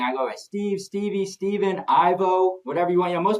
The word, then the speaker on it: Steven: It's not Steve. Steven. Not Stephen.